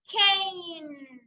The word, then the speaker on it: cane: Number one, we have cane. A. The E is silent. Okay, we don't hear the sound of the letter E. Only the sound of the letter A. Cane.